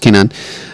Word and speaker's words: Kanan: is why I we're adjusting to the series pronounced Kanan um pulls up next to him and says